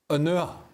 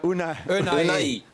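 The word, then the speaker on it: Ounahi: Now, my pronunciation here might not be perfect, but Unua, number 8 from Morocco. Nadim Unua? No. Jules, help me out. Help me out. Unai. Yeah. Unai. All right, I got it wrong.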